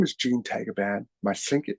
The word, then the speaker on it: Tagaban: And the Philippines is pronounced Tagaban. And my grandfather comes from Batak.